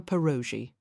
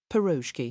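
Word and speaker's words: pierogi: "Would you care for a perogi?" Perroki, he said, correcting her pronunciation, and lowered his head to take a bite of the filled tart in her hand.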